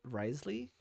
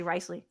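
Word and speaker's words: Wriothesley: how you say it Risley r r r okay it so you ignore like half the letters in his name you say Risley okay so just like French um oh my actually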